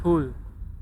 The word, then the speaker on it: whole: Itu bacanya bukan whole ya. Bacanya whole. W-nya jangan dibaca. Whole. W-nya jangan dibaca. Whole. Kayak kita bilang lubang gitu loh, whole.